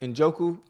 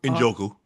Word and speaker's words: Njoku: Njoku. Njoku.